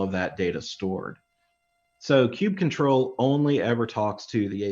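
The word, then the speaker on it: kubectl: and by the way i say cube control some people say cube cuddle i've heard all kinds of crazy pronunciations uh but for me it's cube control hopefully that doesn't offend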